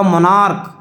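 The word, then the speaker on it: monarch: जैसे मैंने लिखा मोनार्क, मोनार्क, देखिए यहाँ पर सी एच है तो क आ रहा है, लेकिन यहाँ देखिए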